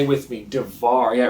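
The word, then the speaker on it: דָּבָר: What's interesting, the word for word in the Hebrew language is the word devar, right? Say it with me, devar. Yeah, it rhymes with, say, lamar, which makes me think of a story.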